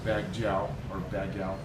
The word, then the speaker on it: Baguio: We jumped in the same car that dropped us off at the hotel, and we started off for our 6-hour drive to Baguio.